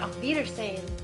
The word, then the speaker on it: Auf Wiedersehen: How do you pronounce that? Auf Wiedersehen.